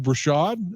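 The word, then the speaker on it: Breshad: catch a touchdown that day again we have brashad is that how you say it yes his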